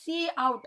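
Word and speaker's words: cout: First நம்ம யூஸ் பண்ண போகிற ஆப்பரண்ட் என்னென்னு அப்படின்னா pre defined identifier சி அவுட் அப்படின்னு ப்ரொனவுன்ஸ் பண்ணணும்.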